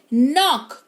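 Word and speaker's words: knock: अगर किसी शब्द के शुरुआत में के हो और उसके तुरंत बाद एन आ जाए तो के साइलेंट होता है। राइट? जैसे नाइफ के एन आई एफ E knife यानी कि चाकू नक के एन ओ सी के नॉक यानी कि दस्तक के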